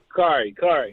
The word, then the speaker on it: Kari: We got Kari on the line from ATL, or is it Carrie? Carrie or Kari? Kari.